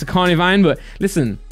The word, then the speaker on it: Carnivine: I always say carvan, but it's a carnivine. But listen, pronunciation is up to the speaker.